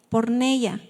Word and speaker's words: porneia: Esta viene de la palabra del original porneia. Acento en la i. por Neya, que se refiere a